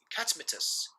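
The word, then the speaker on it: Catamitus: In Latin, the Romans pronounced his name Catmetus, and over time, all effeminate men who engaged in the relationship of role of gay sex were called catamites.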